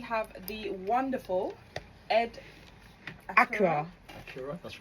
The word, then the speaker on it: Accura: Accura, that's right.